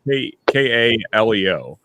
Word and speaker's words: Kaleo: So the only thing I know musically from Iceland is I always say their name wrong, even though I'm a fan. Is Kaleo. It's Kaleo.